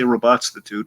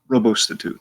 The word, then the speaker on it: Robostitute: Because I used to say Robotstitute because I thought it sounded cool, but it's Robostitute. That's how it's spelled.